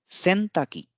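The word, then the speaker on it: せんたくき: सेनताकी, सेनताकी यानी washing machine, सेनताकी। उच्चारण पे आप गौर कीजिएगा कि अंत में जो की है उसका जो उच्चारण है वो हल्के में लिया गया है।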